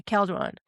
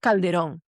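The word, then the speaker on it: Calderón: And I would say Calron. I got checked really quick. My teacher said, "You know, Calron Calderon, you need to pronounce it with an accent."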